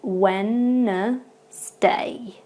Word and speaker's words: Wednesday: number 18 we have Wednesday now Wednesday is quite easily mispronounced because there are some letters in there that we just don't pronounce at all so for example at